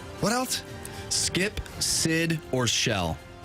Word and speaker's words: Shel: So not like seashell. No, that would be no, two but I L's. didn't mean it like that, you know. So was it Skip? What else? Skip, Sid, or Shell.